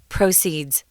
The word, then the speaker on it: proceeds: proceed is the verb but proceed is a noun and we do pronounce it differently the accent comes on the first syllable proceeds yeah and it's always